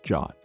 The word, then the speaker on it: JWT: That token is typically a JWT, or JSON Web Token, pronounced JWT, which is a signed object that bundles audience, expiration, and granted scopes.